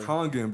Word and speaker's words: Kangen: Kangen water. Kangen, bro. I said Cajun.